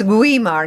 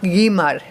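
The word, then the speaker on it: Güímar: and Guimar Guimar because the letter after it the U has a numl. A numlau. Yeah. Have they called a numlau here? No. No. It' be a tilda. A tilda. Any kind of an accent. It's like but then the tilda Swanson but it's guimar not gimmar.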